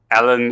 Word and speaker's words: Elon: squeeze based on okay ellen it's just uh gigaflourish ellen is like that is the tv show you know ellen the whatever yeah that's basically how you say it yeah um but